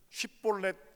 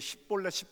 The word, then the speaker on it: 쉽볼렛: 에브라임 사람들은 쉽볼렛 이 발음이 안 돼요. 사투리를 쓰는 게. 그 사람들은 매일 십볼렛 이렇게 발음합니다.